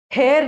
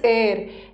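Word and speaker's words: heir: बट इसका pronunciation हेयर नहीं है। इसका प्रोनंसिएशन इज़ एयर। एयर का मतलब होता है उत्तराधिकारी। लिख लो हिंदी में सक्सेसर उत्तराधिकारी जिसको वारिस बोलते हैं। ठीक है? वारिस है, उत्तराधिकारी है। तो इसमें एच साइलेंट है।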